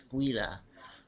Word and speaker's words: Guida: I'm saying it right now. Guida. My other videos I said Guida. It's Guida.